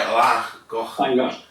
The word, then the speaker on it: Llangollen: Llangollen. Sorry, Llangollen.